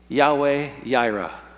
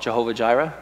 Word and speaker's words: Yahweh Jireh: the Lord will provide Yahweh Jireh some people call it Jehovah Jireh but that would be a mispronunciation and to this day